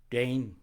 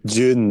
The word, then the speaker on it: DVNE: one and only dudley tate the drummer from dane dwayne the band the band from the edinburgh and embrace wayne dwayne don't doon june june that's it i got it finally all